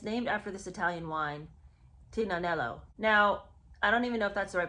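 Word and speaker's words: Tignanello: And it's named after this Italian wine, Tinanello. Now, I don't even know if that's the right pronunciation, but I do know the G is silent in that word.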